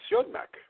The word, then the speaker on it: Siodmak: I'm going to say Siodmak.